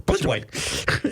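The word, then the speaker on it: Plitzuweit: I've decided if you say it real fast without syllables, you can pronounce it correctly. Blitzerwhite.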